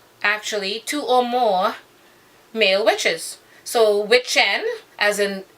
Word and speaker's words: wicce: The female witch is witche, W-I-C-C-E. So, and it's pronounced witche, and then there's witcha.